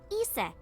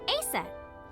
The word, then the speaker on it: Isis: Horus's mom is named Isis, but in ancient Egyptian, it's pronounced closer to Ise or Ase.